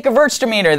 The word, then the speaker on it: Gewürztraminer: It's just Gewürztraminer or Gewürztraminer. It doesn't matter. Just say Gewürztraminer. That's where everybody goes. Derek's going to throw it up phonetically underneath what I'm saying. Gewürztraminer. If you do that, you'll be fine. String it all together. Practice it 10 times.